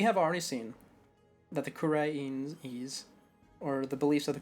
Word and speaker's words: Khura'in: Khura'in. There we go, that's how we should pronounce it from now on.